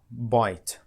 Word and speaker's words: bite: so we have here bite repeat with me bite notice that the last letter is silent we didn't pronounce it look at the man